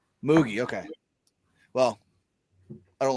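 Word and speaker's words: Mougey: No, it's the new GM, and I don't know how to pronounce his name, so I already don't like him. Yeah, Darren Moogie. Moogie, okay.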